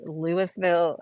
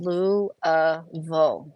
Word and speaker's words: Louisville: has trouble pronouncing it, if anybody does that Louisville, that weird ass Louisville stuff, like you watch sports announcers, like they tend to know it said Loo-uh-vulle.